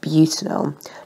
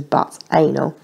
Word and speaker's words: butanol: Now this is pronounced butanol, not as one of my year 11s once insisted on pronouncing it as butt anal.